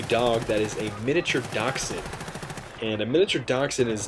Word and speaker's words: Dachshund: Her name is Bella, and I actually call her Bella the Badger because if you actually dissect the word dachshund, it's actually a German word, and it actually ties into my gamer tag.